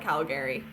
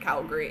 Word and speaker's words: Calgary: So people outside of Calgary call it Calgary because that's how it's spelled. So that's absolutely correct. And also we're referred to as Calgarians. So you would think that would make sense. But when you're local there, it's just Calgary.